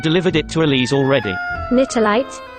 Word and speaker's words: Nitelite: it to elyse already knitterlight that's the proper pronunciation according to stella maria we'll have to meet